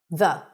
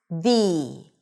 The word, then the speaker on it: the: When the following word starts with a vowel, we pronounce it with an 'ee' sound - thee, thee: thee apple, thee elephant, thee animal, thee egg.